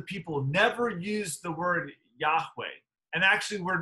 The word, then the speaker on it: Yahweh: know the precise pronunciation we say Yahweh because that's the closest approximation but we don't actually know that original pronunciation um what the Hebrew